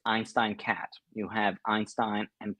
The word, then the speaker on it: Einstein: And this web app is called, let me pronounce it in an English way. It's called Einstein Cat. Now all the Germans in front of the laptops will be like, it's Einstein, not Einstein. So it's basically Einstein, one of the biggest